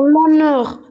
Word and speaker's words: honneur: Car il y a H muet et après on a voyelle. Non, non. Le H muet, c'est suffisant en lui seul. Parce que le H est muet.